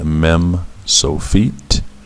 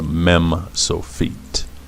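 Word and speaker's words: מם סופית: Anyway, that's the mem sofit. And because it is a mem, just like the regular mem, it has a numerical equivalent of 40, just like the mem. And the sound is meh, meh.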